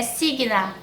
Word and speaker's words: Signe: misteriosa de um casal signa se escreve signe mas eu dei um Google para ouvir a pronúncia é signa e asley esse casal